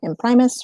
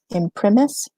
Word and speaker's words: in primis: this right here so depending on the pronunciation that you're used it's either in Primus or in primis I use a Latin pronunciation that's a classical which would be it in premise so you know whatever